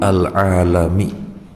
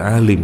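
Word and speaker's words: عالم: dan dia muda biru alami pengatur alam semesta kalau dibaca Alim arti orang berilmu Halim ini bacanya bukan Alim dibacanya alam alam semesta tulisannya sama persis Hai bahwa diam-diam udep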